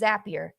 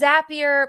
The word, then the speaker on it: Zapier: It's Zapier. That's what we're going with. That's how you pronounce it. And it's going to take some time. But it's zappier pron pronounced like happier.